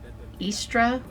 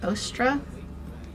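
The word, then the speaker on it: Eostre: the goddess of spring her name may be pronounced istra or ostra depending on the area you are from she symbolized New Life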